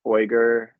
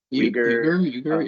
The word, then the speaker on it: Uyghur: About the I don't know how to pronounce that. Uyghur. Uyghur, yeah.